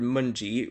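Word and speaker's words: Mountjoy: england the quarter lord munji which is how you say it i know it it's it sounds like mountain joy yeah but it's moji i believe spoke for everyone when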